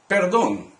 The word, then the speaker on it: perdón: He wants to begin a conversation, so he says, "Excuse me, perdón." This, of course, is like the English word pardon, but the pronunciation is quite different.